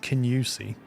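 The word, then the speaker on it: Kingussie: There's a town called, I believe you pronounce it Kinusey, but it's spelled Kingoosey.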